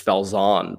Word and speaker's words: Falzon: pronounce your last name i i pronounce it like a boring american just fells on but whenever there's anyone